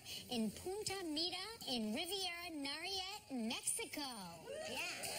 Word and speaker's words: Nayarit: Speaking of hot climates, the Four Seasons Resort in Punta Mita in Riviera Nayarit, Mexico. Yeah. Rolled right off your tongue. I didn't say it right? No, you I did said it exactly right.